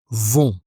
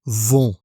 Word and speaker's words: vont: Ils, elles, vont. On ne prononce pas le T final et on a aussi la nasale on. Ils vont.